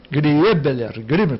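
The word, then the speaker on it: Griebler: Gribler, pronuncia-se Gribler, mas a escrita, porque a Griebeler ou Gribler mesmo, né? O deles tem o E, né? O E depois do I.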